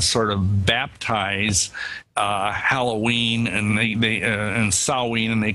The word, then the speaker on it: Samhain: And the real name, I think, was called Samhain. Is that the correct pronunciation? Yeah, in the Celtic British Isles, yeah, Samhain. It's spelled S-A-M-H-A-I-N, but we say it as Samhain.